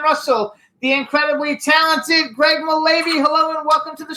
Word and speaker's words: Mullavey: Now we're going to bring out our next guest, who is Greg Mullavey. I think is how we pronounce it. Mullavey. Hello. Mullavey it is. It's Irish.